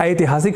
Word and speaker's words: ऐतिहासिक: हमें ऐ अर्थात ऐ ऐसा उच्चारण संस्कृत के शब्दों का करना चाहिए। अर्थात ऐतिहासिकः या ऐतिहासिक शब्द कहना हो तो ऐतिहासिक ऐसा शुद्ध उच्चारण करना होगा।